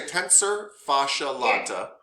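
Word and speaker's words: tensor fasciae latae: I don't know how to pronounce it. Yeah. So you're going to say tensor fascia lata.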